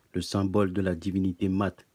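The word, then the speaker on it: Maât: symbole de la divinité maths qui se dit mas et non mais que l'on doit prononcer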